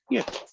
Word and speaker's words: mu: That little Greek letter is pronounced mu.